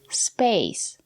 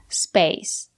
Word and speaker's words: space: at this word space here we have the letter a and the silent e we pronounce the letter a as the long a like in lake and make space space the first man in